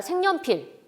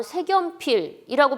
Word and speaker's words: 색연필: 예를 더 보도록 하겠습니다 자 색연필 색깔있는 염두에 색 면 피를 우리는 모두가 다 생년 필 발음은 아주 잘하고 있습니다 의심할 여지도 없이 뭐 다시 생각해 볼 필요도 없이 모아 자들은 색연필을 잘 발음을 하고 있죠 이제 이게 외국인 학습자에게 는 이게 악으로 색연필 이라고 발음할 수도 있겠고 이걸 어떻게 발음을 해야 될까 고민 할 수 있는 단어이기도 합니다 일단 어휘 자체를